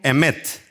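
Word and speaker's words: אמת: con la palabra mt se pronuncia lo conmigo emmet que quiere decir en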